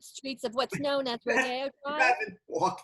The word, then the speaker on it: Rodeo: If you've actually been on the gilded streets of what's known as Rodeo Drive. It's pronounced Rodeo, by the way.